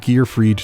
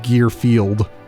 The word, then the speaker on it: Gear Freed: and I'm pretty sure he mispronounced his name and called him Gearfield. Huh? Gearfield. I wonder I wonder what his thoughts are on Mondays and lasagna. But yeah, it's Gear Freed, not Gear Field.